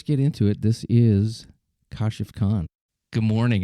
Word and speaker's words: Kashif: It's just phonetically, I guess that's how it's pronounced, Westernly, right? But the actual Arabic word is KASHIF. Oh, okay. Yeah. I mean, phonetically, when you look at the spelling, it should be KASHIF in English.